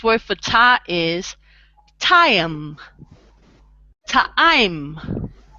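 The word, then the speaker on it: טעים: Ta'im. So you always try to pronounce the letter like when you have an I in it.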